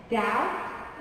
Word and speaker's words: doubt: Also, B is silent when followed by a T in that, doubt, and suffer.